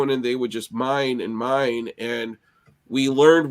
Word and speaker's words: Miami: pictures of me um Mi it's spelled Miami but it's all indigenous in that area so it's called Mi and if you look